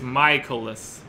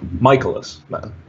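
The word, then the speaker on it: Mikolas: So it's Michaelis. Okay. All right, Miles Michaelis. And I always want to call him Mike. I don't know why. I'm always enunciating the middle syllable.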